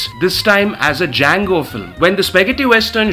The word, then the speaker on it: Django: D-J-A-N-G-O. The D is silent.